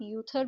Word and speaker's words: Uther: उथर है इसे आप यूथर भी कह सकते हो और उथर भी कह सकते हो। यूथर जो है वो ब्रिटिश इंग्लिश का प्रोनाउंसिएशन है और उथर जो है वो अमेरिकन इंग्लिश का है।